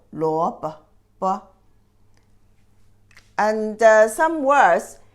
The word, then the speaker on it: 萝卜: And this second character also light touch tone. 萝卜.